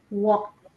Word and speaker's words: walked: Walked. Walk. Walked. Walked. Walked. Yes. So you pronounce a t at the end.